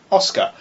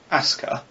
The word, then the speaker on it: Asuka: the pilot called Oscar, which that is not how you pronounce her name. It is spelled Asuka. You don't pronounce that Oscar. Asuka, maybe. But not Oscar. Yeah. Obviously, the correct Japanese way to say it would be Asuka. And you kind of leave out some of the proper sounds and whatnot, but you don't pronounce that Oscar in a million years.